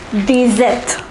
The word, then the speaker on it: dix-sept: The number 16 is pronounced as seize. Say it once again, seize. The number 17 is dix-sept.